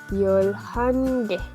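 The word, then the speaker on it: 열한 개: Entonces ya no sería Yolhana, sino que sería Yolhan. Y nuestro contador, Yolhange. Yolhange. Acá, sí, efectivamente se pronuncia que, pero si yo lo pongo después de un número, suena como que.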